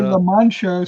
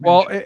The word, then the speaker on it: Mancha: People say La Mancha, so they're used to that, but you pronounce it Mancha.